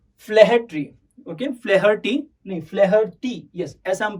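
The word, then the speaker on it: O'Flaherty: जिन्होंने लिखा है उसका नाम है लियाम ओ फ्लेहर्टी, ओके, फ्लेहर्टी नहीं, फ्लेहर्टी, यस, ऐसा हम प्रोनाउंस करेंगे, फ्लेहर्टी।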